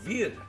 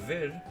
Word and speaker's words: Vir: W Verda castalina lies near the village of V that's spelled v i r on the island of